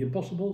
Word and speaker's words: impossible: In impossible, it's not IN, it's IM. But in pronunciation, you don't hear neither the N nor the M because you only hear the nasal sound. So, if you sing, oh, c'est impossible, if you pronounce that M before the P, then you're wrong, because it should only be impossible, without any trace of an M.